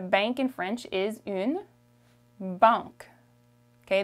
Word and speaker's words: banque: Okay, the A-N is a nasal sound. It makes a. Banque. Banque. Okay? Like I said, in Canadian French, the E at the end, we don't pronounce it so much. So it becomes banque.